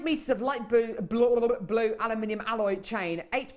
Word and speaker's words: aluminium: out of the bag aluminium it is aluminium it's not aluminum is it Alum I think the Americans say aluminum don't they aluminum aluminum I quite